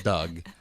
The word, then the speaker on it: Doug: Doog. Sounds like dog with an extra O. That's dog how it's. that I want to pet. That's how. That is how it's spelled, but it's his name is Doug.